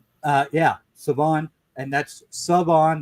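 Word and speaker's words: Shavon: And that's Savon. There's no H pronounced even though it's spelled with an H, kids. It's Savon Rell.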